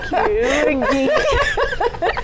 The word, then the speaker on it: Kirungi: But then, hey, Kirungi. You're pronouncing it, I like it. Kirungi.